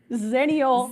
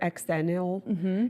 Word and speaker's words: Xennial: If you were in that special 6 years, you are, cheers, Xennial. Xennials. Xennials, what I like to say. Xennial. Eggs. The X is See? the X, but you say it with a Z.